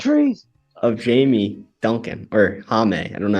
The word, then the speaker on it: Jaime: My pick is going to be Jimmy Jaquez Jr. Obviously. At least say his name right. What is it, Jaquez? Jaquez. Jamie Jaquez Jr.? No. Jaime Jaquez Jr.